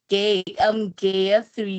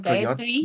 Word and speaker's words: Gayatri: Gaia three. Oh, it's Gayatri. All Oh, right. Gaia three.